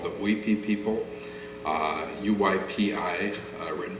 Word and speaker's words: Uypi: a tribe called the Oipi people. Uh UYPI uh written by the Spanish. So it' be pronounced as if it was in Spanish, which would some people